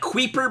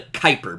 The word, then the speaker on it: Kuiper: is actually called the Kuiper belt Kuiper belt a zoom in on that real quick there we go it kind of looks like qui per belt but the U is silent it's the Kuiper belt so the asteroid